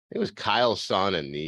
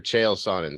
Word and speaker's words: Chael Sonnen: And I think it was Kyle Sonnen, or Chael Sonnen, sorry, is how you say it.